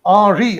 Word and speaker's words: Henri: But it is basically prior to Lorentz, this particular person, Henri Poincaré, Henri, I mean to say it's a French kind of a pronunciation.